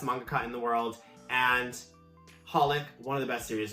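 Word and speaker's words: xxxHOLiC: be that placeholder so you just call it holic you don't pronounce the ex it's like Hunter Hunter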